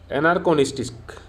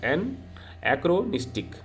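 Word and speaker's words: anachronistic: Sorry, इसका एक pronunciation थोड़ा ठीक नहीं हो रहा है। एनएक्रोनिस्टिक, सॉरी इसका क्या होगा? एनएक्रोनिस्टिक, सेट in wrong time of period is called एनएक्रोनिस्टिक। इसका प्रोनाउंसिएशन हो जाएगा एनएक्रोनिस्टिक।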